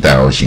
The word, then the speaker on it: dioxin: 我们说以前台湾常常烧那个废五金 dioxin 啊，产生毒气啊，dioxin